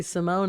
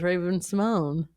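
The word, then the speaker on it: Raven-Symoné: We've known that she's she's now correcting everyone and says it's actually Simone. And I'm like, well, I'll never not think of you as Raven Simone.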